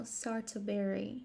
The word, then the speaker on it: Sartoberry: I pronounce the name of the channel Sartoberry because it's strawberry with the A and the T mixed up, so that is spells art.